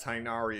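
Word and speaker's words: Tighnari: are starting out with i want to say tainari but i know that there has been a lot of controversy with how his pr name is pronounced especially given the fact that tynari is how it is said in his trailer and also in that premonition trailer for cole yeah but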